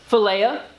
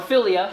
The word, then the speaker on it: philia: The second one is going to be philia. Or philia, however you want to pronounce that. I've heard it pronounced both.